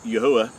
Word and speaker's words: Yahuah: how we know that his name is pronounced as Yahuah, and not as what most people think as Yahweh or Jehovah, and all these hybrid names.